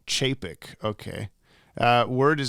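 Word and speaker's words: Čapek: James, you mispronounced Carl Capek's last name. C is like ch sound in chair. Carl Chapek.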